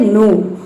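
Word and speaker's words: know: की और एन एक साथ आता है तो उसमें के जो है वह साइलेंट रहता है। जैसे कि देखिए यहाँ पे है नो, तो इसमें के बाद क्या आया है, एन आया है, तो इसमें हम के को प्रोनाउंस नहीं करेंगे।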